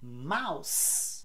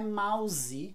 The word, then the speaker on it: mouse: é baseline é baseline mouse não é mouse é mouse com S by the way uma